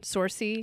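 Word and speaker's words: Saoirse: Sorcy.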